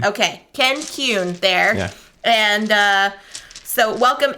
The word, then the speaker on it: Kuhn: It's Kuhn. So okay. Like a Q? I just tell people like a Q plus an N. Okay. Kuhn. Okay. Ken Kuhn there.